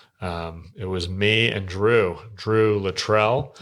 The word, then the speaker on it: Littrell: It was me and Drew Littrell. Is that how you say it? Yeah, we clarified that on the podcast. I've been saying Littrell. I don't know why. Maybe it sounds more Kentuckian to me.